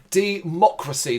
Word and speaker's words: De-Mock-Racy: him through segment one democracy the reason why I'm saying it that way is because it's how it's spelled de hyphen mock mlc K cuz it's a joke H and then hyphen racy r a c y